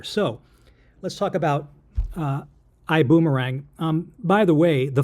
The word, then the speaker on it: iBuumerang: over both 's and I don't know how you pronounce that and I don't speak German it would be iang or something like that I Boomerang is the way it's pronounced I'm going to give